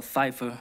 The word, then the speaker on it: Pfeiffer: i'm a hit michelle pfeiffer that's silent p right but as i